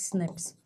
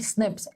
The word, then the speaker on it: SNP: change of the single nucleotide so it is pronounced as snips right snips snps this stands for single nucleotide polymorphism remember